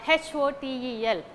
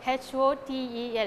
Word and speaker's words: hotel: know the word h-o-t-e-l it's not hotel but it's hotel okay ho must tell we have two syllables but the first it's a noun also but we are not giving stress on the first uh syllable that is her instead we are going for the second uh syllable that is star okay ho tail hotel okay ter should be